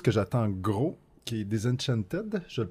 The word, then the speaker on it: Disenchanted: Quelque chose que j'attends gros, qui est Disenchanted. Je le prononce correct? Oui. Faut dire le TED à la fin ou c'est Disenchant? Non, il faut que tu mettes le T à la fin.